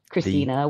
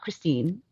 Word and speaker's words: Christina: at the Christina, THE Christina with a CH and an A at the end. Cause my name's not Christine. Go with that third. Just clear that up. Just need that third syllable. I was called Christine so much in school by all my teachers. And I'm like, Christine has the same number of letters. You're just being too lazy to not say the third syllable.